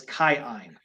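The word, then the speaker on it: Kiin: a long vowel and if it's a double vowel you pronounce both of them so it's not k-i-i-n is chi-in Oh that's oh man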